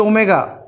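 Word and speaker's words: omega: বলা আছে না, ওমেগা এটার নাম হচ্ছে, এর উচ্চারণ হচ্ছে ওমেগা, ওমেগা ও এম ই জি এ, ওমেগা ইজ দি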